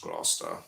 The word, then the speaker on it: Gloucester: It's pronounced Gloucester.